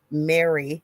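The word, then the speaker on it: Mari: And so it says Welsh in quotations grey, but it's actually Mary M a R Y Lloyd. It's the way it was pronounced in Welsh.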